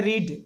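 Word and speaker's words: read: थोड़ा ध्यान देना है, इसके तीनों रूप में रीड ही लिखा जाता है, लेकिन उच्चारण करते समय इसको रेड पढ़ा जाता है और इसको भी रेड पढ़ा जाता है, लिखा जाता है वही।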